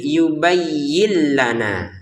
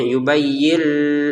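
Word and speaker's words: يبين لنا: Masukin nun sukunnya ke lam ya. Yubayyin menjadi yubayyillana. Tanpa dengungan enggak boleh kita membacanya yubayyil. Enggak boleh ya.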